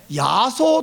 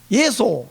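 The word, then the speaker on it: 耶稣: 그래서 제가 어떻게 발음하는가 봤더니 저거를 예소 이렇게 발음하거든요. 예소. 근데 우리나라 사람들 저걸 야소 이렇게 발음하잖아요. 예소든지 야소든지 좋아요. 뒤에 발음은 수가 아니고 소예요.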